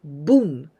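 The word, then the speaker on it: 分: of bunsu the fraction this kanji is always pronounced with boon not fun always with boom this is one very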